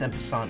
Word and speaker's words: en passant: There's no T, you can't pronounce the T, and that's en passant, I think.